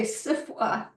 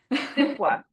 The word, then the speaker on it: SFWA: And I'm assuming the two of you were in the SF WA SFWA, together. we say SIFWA. SIFWA. SIFWA.